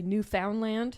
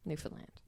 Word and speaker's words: Newfoundland: It's like when people say Newfoundland. Right. No. Stop Newfoundland it. Newfoundland.